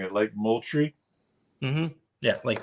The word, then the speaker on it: Moultrie: I know that Lady C and I fished Lake, help me if I'm mispronouncing it, Lake Moultrie? Yeah, Lake Moultrie.